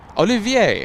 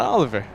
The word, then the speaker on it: Olivier: Olivier, hold on. Am I pronouncing it correctly? I think I got it a little close on the second try, yes? It's not Oliver. It's not Oliver.